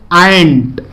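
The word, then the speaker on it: ain't: उसका short form बोला जाता है एंट, AIN'। उसको हम, उसका प्रोनाउंसिएशन जो होता है वो एंट होता है, AIN'।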